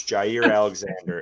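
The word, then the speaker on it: Jaire Alexander: It's Jaier Alexander. And it is I just watched a pronunciation video.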